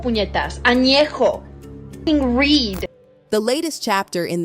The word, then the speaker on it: añejo: least you can do is learn how to pronounce the tequilas correctly. Blanca, Reposado, Añejo. What the fuck is Añejo? It's Añejo, puñetas. Añejo.